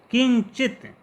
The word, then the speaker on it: किंचित: किंचित यहाँ पर जो अनुस्वार है उसका उच्चारण आधा या की तरह किया जा रहा है।